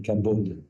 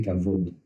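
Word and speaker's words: כבוד: comme vous voulezécrire alors certains disent au lieu d'e V on met un B ça s'écrit cabod il faut prononcer cavode qu'est-ce que ça veut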